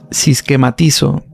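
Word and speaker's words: συσχηματίζω: Sí, este verbo griego de esta palabra es siematice o sisquematizo, una pronunciación más aproximada, sisquematizo.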